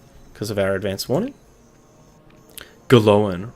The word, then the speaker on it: Glóin: Glóin rhymes with loin.